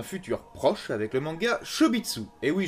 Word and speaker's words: Chobits: proche avec le manga chez mitsu et oui je le prononce à la japonaise parce qu'en français ça fait des shows bits les esprits mal placé